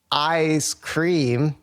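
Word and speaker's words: I5CREAM: them up it's it's it's spelled I numeric 5 uh c r e a m so recommend if if you're down for a throwback I ice cream I5 cream whatever uh put out some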